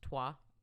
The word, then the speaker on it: Troyes: cathedral actual city it's in france and actually pronounced trois yeah okay all right there you go all